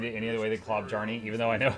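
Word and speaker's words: Klobjarne: I actually can't read it any other way than Klobjarny, even though I know how it's supposed to be said.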